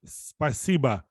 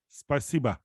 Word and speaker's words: Спасибо: We're saying spasiba, spasiba.